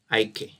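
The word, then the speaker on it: IKE: I normally call it EK. IK. Some people call it IK. But me, I call it EK. Just a simple pronunciation.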